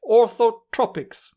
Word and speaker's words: orthotropics: Orthotropics, that's how it's pronounced, orthotropics, as well as mewing.